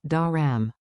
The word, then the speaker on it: دارم: Chunk it like music. E-ya-z, da-ram.